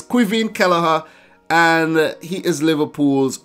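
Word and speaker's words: Caoimhín: I couldn't say it I was saying coy him Kelleher but it's qui vient Kelleher and he is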